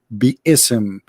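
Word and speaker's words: بسم: Even they agree, all the sheikhs agree that the word is not bism, it is bi-ism.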